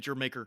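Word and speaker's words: D'yer Mak'er: So, you said Jamaica Yeah, is the Jamaica, pronunciation? Jamaica.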